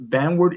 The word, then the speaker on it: Vanward: Vanward is spelled v a n w a r d.